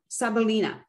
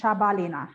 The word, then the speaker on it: Shabalina: invitation welcome uh sabalina did i pronounce that correctly ah yeah my last name is shabalina so it's sh like ash like yeah well just